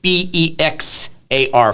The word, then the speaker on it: Bexar: It's pronounced like the animal, but it's not spelt like that.